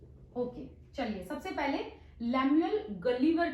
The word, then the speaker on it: Gulliver: First है लैमुएल गलीवर, कई लोग इसको गुलिवर भी कहते हैं, कई लोग गलीवर भी कहते हैं, बट the correct pronunciation is गलीवर।